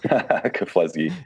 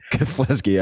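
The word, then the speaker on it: Keflezighi: helped Meb and you're going to have to pronounce this guy's last name for me keski keski all right train for his uh incredible Boston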